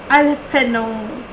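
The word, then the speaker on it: jalapeño: The spelling starts with letter J, but it is pronounced it as Alpeno.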